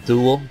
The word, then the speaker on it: Thule: a member of the Thule society or Thule Society for the pronounced both ways I prefer the pronunciation tool but I don't know which is correct in Bavaria the Thule